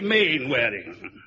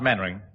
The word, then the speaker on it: Mainwaring: YOU MUST be Mainwaring. Oh, how do you do, Colonel? Actually, it's pronounced Mainwaring. Then why the hell do you spell it Mainwaring?